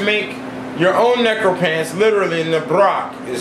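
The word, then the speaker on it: nábrók: If you want to make your own necropants, literally Nabrok is how it's pronounced, it's Nabrok, you have to get permission from a living man to use his skin after his death.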